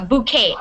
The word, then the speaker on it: bouquet: bouquet of flowers yeah bouquet bouquet the te at the end is silent you don't say the te a bouquet yeah any